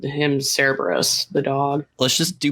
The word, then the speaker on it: Cerberus: I think you're right in that in order to pronounce a C, you do a K sound.